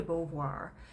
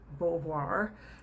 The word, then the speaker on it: Beauvoir: then is simone de beauvoir and uh beauvoir is of course a french last name i think it's relatively